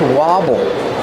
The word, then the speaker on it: wobble: Ah that's different that's Wobble the bowl is wobbling use a short a sound like hot and stop Wobble the bowl is